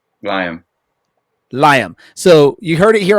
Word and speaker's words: Lyam: Liam.